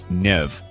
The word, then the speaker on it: Niamh: Take the name Siobhan, which is pronounced Shivach, or Nia, pronounced Nev.